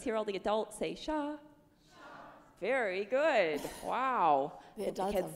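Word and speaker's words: 沙: say sand and Chinese to sand is said like this sha yeah it's that high flat level tone again sha one more time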